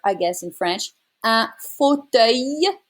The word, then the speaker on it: fauteuil: Un fauteuil. It's a Y sound as well. Un fauteuil roulant.